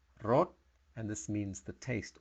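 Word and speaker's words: รส: S so it's not Ross it's rot the S sounds almost like a t but it's not really enunciated rot and this means the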